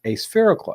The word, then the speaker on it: aspherical: to polish the uh a spherical element and the spherical element in the lens is what causes that onion ring because this aspherical elements are just like phonetically what it means it's not spherical right a spherical lens